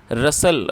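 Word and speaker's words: rustle: एस टी एल ई रसल दोस्तों इसमें जो टी है वो साइलेंट है तो टी को हमें प्रोनाउंस नहीं करना है इसे आपको रसल बोलना है और रसल एक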